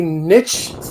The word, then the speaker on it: niche: If you are a niche thing and you decide to forego your niche audience for the masses, you lose. It's pronounced niche, but okay.